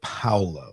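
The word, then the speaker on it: Paolo: Paul goola Paulo okay is it Pao because I was I didn't is it Paulo or is it PA Paulo they pronounce it as Pao on the audio books that's what I'm going with yeah but and you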